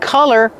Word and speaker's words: color: Don't be confused with color. Color has a short uh sound like cup and up.